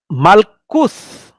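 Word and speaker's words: מלכות: Then Malkuth. Okay? Malkuth. Malkuth. You need a TH there.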